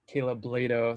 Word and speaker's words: Blado: It's Kayla Blado. Sorry about that. I should have, Rhymes with Play-Doh.